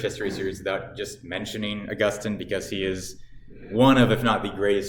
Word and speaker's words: Augustine: And it is pronounced Augustine. From what I've heard, that is the correct pronunciation. You may also pronounce it Augustine.